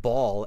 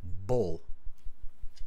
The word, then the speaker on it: bull: So, just repeat after me, bull. Bull. You almost have to spit that U out.